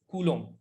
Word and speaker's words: coulomb: which is coulomb so it's a french word uh actually a french name coulomb the b is silent okay so one point